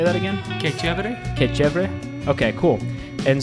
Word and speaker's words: Que Chevere: And how do you pronounce it? Say that again. Que Chevere.